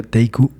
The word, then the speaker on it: Teku: visita cuando otro guía teku se pronuncia teiku se hizo presente teiku